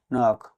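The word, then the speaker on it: knock: কে এন ও কে নক মানে টোকা দেওয়া বা টোকা দেওয়া। এখানে কে লেটার সাইলেন্ট থাকবে এবং দুটি কনসোনেন্ট এর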